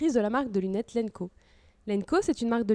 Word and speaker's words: LNKO: Déjà, ça nous fait vraiment plaisir que tu aies pensé à Lenco quand tu as lancé ce podcast.